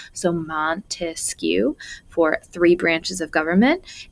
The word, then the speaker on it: Montesquieu: best way to remember montesquieu and three branches of government he's the guy with the longest name the only one with a three-syllable name so montesquieu for three branches of